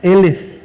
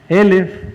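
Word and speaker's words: אֶלֶף: la torá la palabra mil es la palabra elef elef se escribe igualito que alef sin embargo lo único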